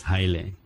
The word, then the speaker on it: Haile: to pronounce it correctly so I say my name is highly highly since be easy for